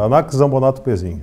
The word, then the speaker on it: Anax Zambonatto Pezzin: Essa é a pronúncia correta, Anax Zambonato Pezin.